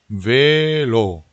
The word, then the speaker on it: velo: L이 하나밖에 없기 때문에 velo 해버리면은 전혀 다른 뜻이 돼버리죠. 그래서 velo, velo, torbido velo 이렇게 발음하셔야 되고요.